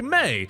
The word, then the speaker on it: me: For everyone who's confused, there's a song by NSYNC called "It's Gonna Be Me," and me is pronounced like May.